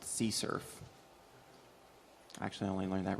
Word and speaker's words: CSRF: of attack is uh csrf which is actually pronounced sea surf actually i only learned that recently this is